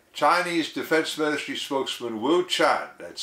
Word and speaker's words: Qian: I have a link in the description to a video from CCTV, the Chinese TV network, showing Chinese Defense Ministry spokesman Wu Qian, that's spelled Q-I-A-N, putting it out there that the